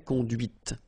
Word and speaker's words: conduite: Okay, so here you can listen to this T, T, okay, conduite, right?